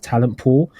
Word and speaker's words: Talentpoel: He is the founder and CEO of Talentpoel. That's Talentpoel spelled with Poel.